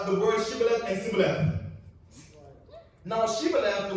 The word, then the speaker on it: Shibboleth: If he replied no, they said, "All right, say Shibboleth." If he said Sibboleth, because he cannot pronounce the word correctly, they seized him and killed him at the falls of Jordan.